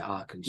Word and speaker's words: Arkansas: For Arkansas now, am I pronouncing that right? Yeah, Arkansas. Yeah, Central Arkansas.